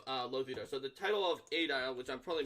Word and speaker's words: aedile: No, I think that's right, Aedile. I was pronouncing it right.